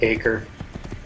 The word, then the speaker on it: Acre: go to poker acre I'm American usually I just say acre just make it a little bit more easier with the word acre I'm sure it's pronounced Acker pretty pretty sure of it and lon from Kingdom